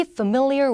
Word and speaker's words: familiar: 근데 발음은 family라고 안 하고 여기로 강세가 바뀌어서 얘는 살짝 F 발음만 하면서 한번 읽어볼게요. Be familiar with.